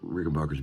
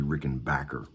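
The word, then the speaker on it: Rickenbacker: are special instruments and you're also saying it wrong it's supposed to be Rick and Backer and I said I'll alert the other 8 million guitar players that say it Rick and Bacher what are we going to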